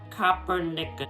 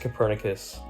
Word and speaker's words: Copernicus: instance around that time the polish astronomer nicolas coppernick yeah it's pronounced copernicus thank you nicholas copernicus was the first to